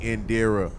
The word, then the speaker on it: Indira: all night so I'm gonna say it correctly Indira y'all follow her my name is